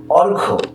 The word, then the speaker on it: অর্ঘ্য: সন্ন্যাসী, অর্ঘ্য, অর্ঘ্য, অর্থাৎ এই জফলার কোনো উচ্চারণ নেই, শুধু অ, রেফের জন্য র এবং ঘয়ের সঙ্গে ওকার, অর্ঘ্য।